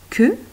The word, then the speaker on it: queue: Un bec et deux canards, un bec de canard avec une queue, le U muet, attention comme tout à l'heure, queue de castor, une grande queue toute plate comme le castor.